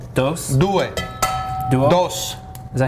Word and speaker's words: due: Due. Duo? Dos. Is that how you say it in Italian? And in Italian it's due.